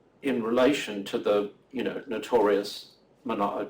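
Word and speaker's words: Manaò: So the first word you don't pronounce as though it's a diphthong like manao, it is manao.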